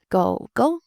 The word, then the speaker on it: 狗狗: Go Go, Go Go. Third tone and then neutral.